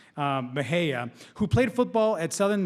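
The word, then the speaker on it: Mexia: which I spent a long time practicing to pronounce Mahaya who played football at Southern Methodist University have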